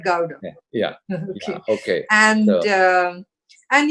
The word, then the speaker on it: Gowda: it go growing like it's not like gouda but gowda yeah okay and um